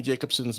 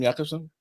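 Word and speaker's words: Jacobsen: same right okay brilliant that's how you pronounce her name Jacobson I'm Jacobson to me yeah Jacobson or Jacobson Jacobson sorry what's the book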